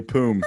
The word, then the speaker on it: Poom: name is boom hey poom give me the ball is it spelled phonetically p-o-o-m yes so this guy it